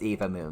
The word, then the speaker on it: Eva Moon: a shout out to an eva moon it's eva moon guys i know it's spelt like three and then va moon but